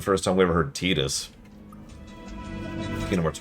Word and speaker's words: Tidus: Yeah, what's funny is it makes perfect sense why it's pronounced Tidus. But by total coincidence, it actually perfectly fits as Titus in English, because tide. But that only really applies in English.